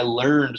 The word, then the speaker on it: learned: is real like i learned something you wouldn't pronounce it as learn it but as an adjective you pronounce it as learned like i am a learned scholar no it sounds dumb